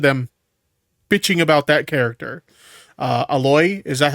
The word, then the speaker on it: Aloy: It's pronounced Aloy.